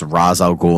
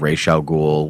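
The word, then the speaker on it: Ra's al Ghul: no Lazarus Pit that it's razal ghoul instead of Ral ghoul which is the actual pronunciation of the name and all these different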